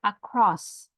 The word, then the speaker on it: across: So what about the word across? Is it on the first or the second syllable? Across. Second, right? What about the word after, Justin?